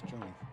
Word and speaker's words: Joni: Said it's not pronounced Johnny, it's Joni.